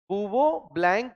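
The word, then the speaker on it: Bouveault–Blanc: सी ब ब्लैंक reduction याद रहेगा क्या ब ब्लैंक रिडक्शन ब वोल्ट नहीं बोलते प्रोनंसिएशन में बव ही बोलते हैं बवो ब्लैंक रिडक्शन क्या बोला जोर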